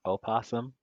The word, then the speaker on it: opossum: Possums are disgusting. I hate possums. You know it's opossum when you spell it. Yes, but it's pronounced possum.